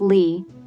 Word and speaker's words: Leah: Among her nicknames were Lulu, based on the comic character Little Lulu as a child, Leah, which was pronounced Lee, in the 80s and 90s.